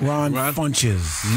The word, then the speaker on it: Ron Funches: Ron Funches. Wow, really, Speedy? That's it right? Ron Funches.